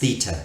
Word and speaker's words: theta: you right now that's you there this is pronounced theta that's the angle angle which I'm gonna fire